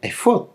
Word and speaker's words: efod: el original hebreo porque eso se escribe Álex Fey Dale y se pronuncia efod tal cual por decirlo de alguna